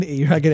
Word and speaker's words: Eragon: Rhymes with dragon. But the idea of... Do you mean Eragon? Yes, I mean Eragon Aragon.